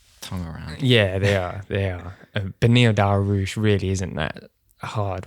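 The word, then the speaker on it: Beneil: But it's Benil, isn't it?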